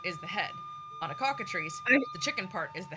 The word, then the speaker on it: cockatrice: I will find a picture of a cockatrice and a basilisk. I think if I were to try to type in cockatree and just phonetically, my algorithm would be completely fucked.